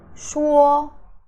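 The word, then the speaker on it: 说: okay it is so the sh sound is sh sh and uo is war sound War sound okay so sure meaning to say sure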